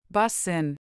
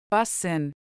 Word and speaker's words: Bussin': how do you pronounce this word busen busen bsin is an adjective and is used